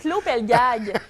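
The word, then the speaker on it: Klô Pelgag: de la musique et là attention à ma prononciation avec claud pelg n claud Pelgag claud Pelgag qui a une timbre de voix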